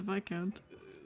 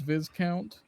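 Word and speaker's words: viscount: working for the baron sorry the vi count the vi count yeah which uh which the pronounced it as viz count multiple times no please tell me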